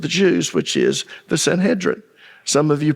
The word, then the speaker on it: Sanhedrin: Jews which is the Sanhedrin some of you pronounce it s Sanhedrin that's fine uh if you look in the Greek it's pronounced Sanhedrin I soon discovered it